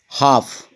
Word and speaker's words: half: here L remains silent half here L remains silent hours where H remains